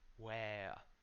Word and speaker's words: where: Where. It's not soft w. It's not a small syllable. It's like when you ask where. Where are you? Where are you?